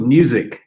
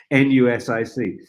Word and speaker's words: Nusic: It's called Nusic, spelt with an N. N-U-S-I-C, Nusic.